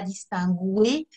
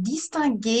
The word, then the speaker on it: distinguer: Distinguer, oui, même s'il y a un U à l'infinitif, on ne dit pas distinguer. Ça, c'est l'anglais qui rentre trop dans la langue française. Donc distinguer, il y a un